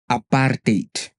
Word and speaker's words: apartheid: So what is the correct pronunciation of the letters a p a r t h e i d? It's simply aparate.